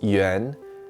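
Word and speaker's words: 援: This character is pronounced yuán, and it means pull.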